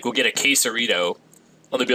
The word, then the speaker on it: Quesarito: But, like, there's a damn T in it, so pronounce the T. Quesarito. Even if you call it a quesarito, I'll forgive you. But when you just flat out, like, Quisaro, we had that one a lot.